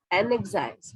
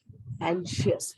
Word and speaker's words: anxious: इसको बहुत जगह अब तक अगर लेटर्स के हिसाब से प्रोनाउंसिएशन करोगे तो ये हो जाएगा एनएक्साइज, है ना, लेकिन इनको हम लोग प्रोनाउंस करते हैं एंशियस. क्या बोलते हैं? एंशियस.